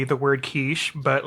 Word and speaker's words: quiche: And he mispronounced it in front of her entire family. A quickie. And he said a quickie.